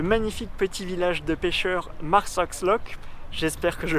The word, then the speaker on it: Marsaxlokk: Et me voici dans le magnifique petit village de pêcheur Marsoxlock. J'espère que je prononce bien.